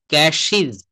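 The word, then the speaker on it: cashes: হ্যাঁ, ক্যাশ, ক্যাশ, ক্যাশিজ, ক্যাশিজ।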